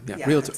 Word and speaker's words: realtor: So, realtor. A realtor. I know, couldn't be more complicated. You're a realtor. Right? That sounds very bougie. But it's not realtor, it's realtor. Realtor.